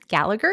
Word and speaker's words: Gallagher: And I just have to say, I grew up reading, okay, correct my pronunciation, the Gallagher Girl. Gallagher, yes. Yep.